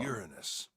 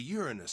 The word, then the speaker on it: Uranus: of the male symbol Uranus that's the Uranus symbol why would they say it like that Uranus Uranus it's not Uranus the way if you say Uranus like it's like urine us so either way it's